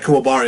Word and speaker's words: Kuwabara: For Kuwabara, you gotta roll the R.